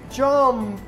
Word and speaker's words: jumped: What is my final sound? P. Pronunciation is T. P. So, T. P. When the final sound is P, we pronounce like T.